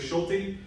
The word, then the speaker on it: Schulte: Again, it's Schulte. That's how you say that last name.